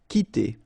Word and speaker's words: quitter: So the idea is that this combination of Q and U together will give you the sound K, okay? So that's the reason why you get qui like that, qui, quitter, all right?